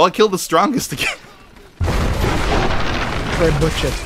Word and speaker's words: trebuchet: Trebuchet 3 destroyed. Oh. How do you pronounce that? Trebuchet.